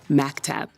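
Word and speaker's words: مكتب: It is written like this, even though it's pronounced like maktab.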